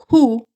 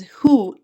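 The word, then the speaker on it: הוא: The answer is he will win, because who in Hebrew means he or him.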